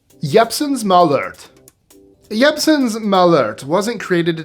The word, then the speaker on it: Jeppson's Malört: It's Chicago, so it's probably Jeppson's Malört. But I looked up the Norwegian pronunciation, so Jeppson's Malört.